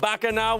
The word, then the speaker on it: Bacchanal: Is it Bacchanal? Because I've been hearing that. It's called Bacchanal. What does that mean?